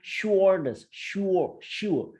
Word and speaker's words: Schroders: Sebelum gua baca beritanya, bagi yang belum tahu shoulders, jadi bacanya shoulders, shoulders.